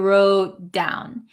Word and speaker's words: wrote down: me see what you wrote down this T again disappears wrote down wrote down what you what you